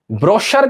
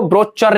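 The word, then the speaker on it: brochure: ब्रोशर का meaning देखो, इसको ब्रोचर नहीं बोलते।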